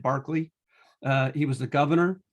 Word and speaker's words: Berkeley: a guy named barkley it's spelt like berkeley but for whatever reasons it was pronunciated barkley uh he was the